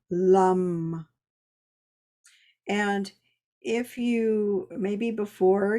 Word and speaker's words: Lam: It's spelled Lam, lum.